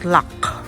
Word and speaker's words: Lough: gic ng lake guys is lock l o u g h lock low kung basahin natin Pero it pronounces lock there we go Wow